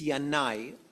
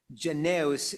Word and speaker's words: Yanai: Most people even in when you talk about it use the Hebrew name it's Yanai. Alexander Yani Janos is in the English pronunciation but uh he's known